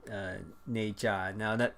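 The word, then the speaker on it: Ne Zha: one animated or one 3D film called uh n j now that it's it's kind of a it's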